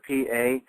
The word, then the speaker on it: Pagosa: Pagosa, P-A-G-O-S-A. I could be pronouncing it wrong, but I think it's Pagosa Springs.